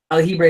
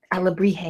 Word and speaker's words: alebrije: So this monkey, whose Aljibre is this? Alebrije.